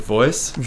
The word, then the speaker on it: Voyc: So pronounce it Voice. Yeah. We spell it V-O-Y-C for Voice of your customer.